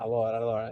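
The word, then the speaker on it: alors: The S is silent. Allor. There's a lot of S's and a lot of S's at the end of sentences in French are silent, right?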